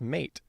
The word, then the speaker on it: meat: And so for a couple examples here uh in middle English the word bite would be pronounced beat and the word meat would be pronounced mate.